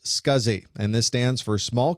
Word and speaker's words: SCSI: for the whole interface the abbreviation SCSI is pronounced scuzzy and this stands for